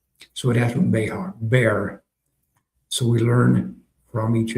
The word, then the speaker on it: Bexar: He said, "It's not Bexar. It is Bear Bear County."